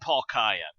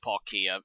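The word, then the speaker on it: Palkia: guys know if you ever if you've seen Paul Kaaya um also it a stupid name because it's actually pronounced Paul Kia and I refuse to pronounce it that because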